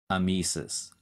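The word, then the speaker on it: emesis: suffix that relates to vomiting and that is amesis hyphen e-m-e-s-i-s we have another new word part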